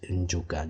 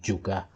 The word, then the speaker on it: Njuka: The plantation Negro of the city, they cannot pronounce Njuka. They will say Juka.